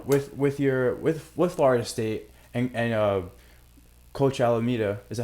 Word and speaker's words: Alameda: You got to now take the next jump, and So now with Florida State and Coach Alameda, is that how you pronounce her name?